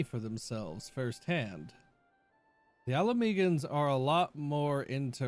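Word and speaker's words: Ala Mhigan: Uh, the H is silent, so it's just like alaman.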